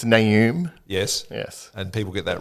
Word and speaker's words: Naoum: How do you pronounce your surname? Well, if you're listening, it's Naoum.